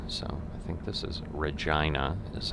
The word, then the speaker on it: Regina: that we're using so i think this is regina is how they pronounce this city let's see if the speed